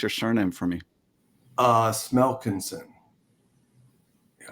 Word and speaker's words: Smelkinson: Smelkinson. Yeah. It's as you read it, Keith. Smelkinson, buddy. It is Smelkinson, yeah.